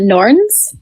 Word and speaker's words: Norns: So next we've got the Norns. Is that how you pronounce it?